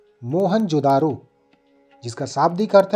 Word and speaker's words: मोहनजोदड़ो: इनमें से 2 नगर बहुत ही महत्वपूर्ण हैं, पंजाब का हड़प्पा तथा सिंध का मोहनजोदड़ो। दोनों ही स्थल जिसका मूल उच्चारण है मोहनजोदारो, जिसका शाब्दिक अर्थ है प्रेतों का टीला।